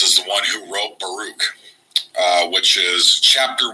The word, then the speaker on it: Baruch: correctly this programming it's Baruch so like Farouk and Baruch there is a second